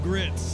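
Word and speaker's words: Gritz: right-wing survivalist named bo greitz although it's spelled grits with a z beau grits interesting characters there's a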